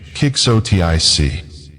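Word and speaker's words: quixotic: Quicksotic pronunciation kicksotic meaning exceedingly idealistic, unrealistic and impractical.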